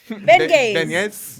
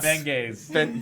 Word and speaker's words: beignet: Beignets. Beignets. Damn it, not Benghazi.